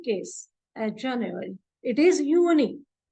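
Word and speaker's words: Juni: at January it is uni j u n i because J is pronounced as Y and not J so it is pronounced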